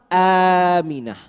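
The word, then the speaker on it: آمنة: Aminah. Ini penting untuk mengajarkan kepada anak-anak kita, untuk mengajarkan hal-hal yang dasar dengan pengucapan yang benar. Ya, ibunya Nabi bukan Aminah tapi Aminah.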